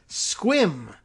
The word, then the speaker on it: Sequim: chiming and tells me it's Sequim is the actual pronunciation for the town that is spelled sequin but I guess that yeah leave it to white Americans to come up with oh so swim all right I'll believe